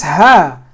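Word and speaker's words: ه: Think of it again. Think of dinas, right? Or make like a grunting noise. Or kind of almost like a cough.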